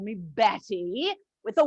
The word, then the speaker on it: Bette: it was from balzac you know cousin bat of course in balzac it's pronounced bet but my mother didn't know that she saw the book and thought it was pronounced betty she was just wrong